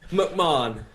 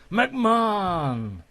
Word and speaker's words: McMahon: and also mayon you don't pronounce the h is that right yeah well that was a solid effort man that's that's that was pretty good mcmahon mcmahon very good i should